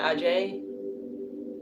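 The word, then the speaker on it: Agé: Pentacles right here foreign spelled a g e with an apostrophe over the e so I'm gonna pronounce it Ajay AJ there's three of Pentacles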